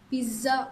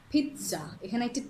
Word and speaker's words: pizza: you can say pizza it's not pizza or pizza it's pizza sound interesting it's not